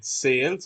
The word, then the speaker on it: Sayle: pronounce his name by saying Sales or Sayles? Sale. Yeah, William Sale.